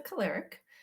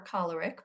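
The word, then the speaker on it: choleric: So the the first one is the caleric that uh or a caleric both are correct pronunciations.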